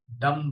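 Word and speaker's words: dumb: डंप एम जी ओ एम जी। डम बोलते हैं। डम बी साइलेंट।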